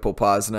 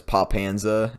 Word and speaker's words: Popasna: Like, I always read the city of Popasna as Popanza, and I just kept that going.